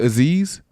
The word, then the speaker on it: Azeez: Oh, is it Azeez? Yeah. I thought that was phonetically. Like a sneeze.